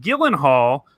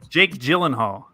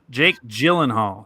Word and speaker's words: Gyllenhaal: of the movies are movies that star Jake Gillen Hall who was in the movie Bubble Boy that's